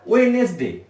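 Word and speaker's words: Wednesday: ওয়েডনেসডে, ডি তে উচ্চারণ হবে না, ওয়েডনেসডে বলবে না, কি বলবে? ওয়েডনেসডে।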